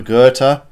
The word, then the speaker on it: Goethe: And then Oliver Goethe, I have it on good authority. The H is silent. So Oliver Goethe, 3rd Red Bull Junior driver in a row, car number 5.